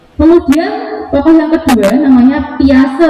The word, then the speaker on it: Piaget: Kemudian tokoh yang kedua namanya Piase. Orang sering bacanya Piaget, padahal macamnya Piase.